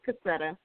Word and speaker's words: Cassetta: well first of all my name it's cassetta it's pronounced cassetta uh so we didn't